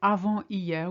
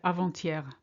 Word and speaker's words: avant-hier: Notice how we link here. We don't say avant-hier, we say avant-hier. Much easier to pronounce.